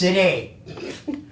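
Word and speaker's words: Siddae: And he said, I'll spell it S-I-D-D-A-E. That's Sidday.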